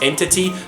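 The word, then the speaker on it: NTT: guys they actually use the NTI engine to make you know this game so it's pronounced entity now this was actually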